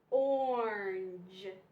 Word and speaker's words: orange: So since we know that, we have or in morning, then we have that A, but the A is silent. You don't hear the A.